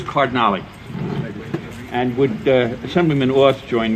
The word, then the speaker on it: Cardinale: Okay, we have Cardinal. Yes. I know it's hard to pronounce. Yes. The name is Cardinale.